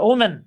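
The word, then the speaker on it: women: আর ওমেন, হ্যাঁ, এটাকে উইমেন, উচ্চারণ হচ্ছে উইমেন।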